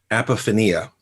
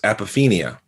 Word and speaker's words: apophenia: And last week on the podcast twice, I pronounced a word as apophenia. That's not the word. The word is apophenia.